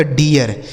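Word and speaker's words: deer: पे क्या पढ़ना पड़ेगा, इस डबल ई का उच्चारण भी हमें ईया करना होगा। जैसे ई और ए का उच्चारण ईया होता है ना, वैसे ही सेम यहाँ पर भी होगा।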